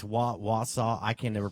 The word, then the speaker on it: Wausau: It's Wausau. I can never pronounce it right.